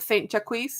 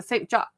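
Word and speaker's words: Saint-Jacques: with the pronunciation and it's not the St jaquis it's the St jock and I'm like this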